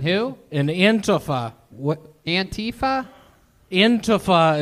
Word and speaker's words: Antifa: Antifa is how it's pronounced.